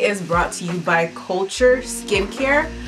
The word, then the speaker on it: CLTR: This Testittuesday is brought to you by Culture Skincare. Culture is spelled CLTR Skincare.